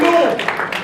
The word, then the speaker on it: Louisville: As I learned how to say the name of the city, Louisville. In Louisville, That's better.